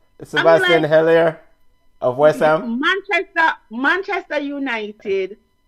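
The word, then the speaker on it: Haller: yeah go ahead sebastian holla that's how you pronounce his name sebastian heller of western manchester manchester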